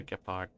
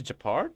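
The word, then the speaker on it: Gepard: in Rivet town right they actually pronounce japar and not Gard here we go again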